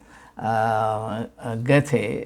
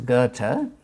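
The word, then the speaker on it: Goethe: the the life of Getty the the correct the German pronunciation is Gerta the great German author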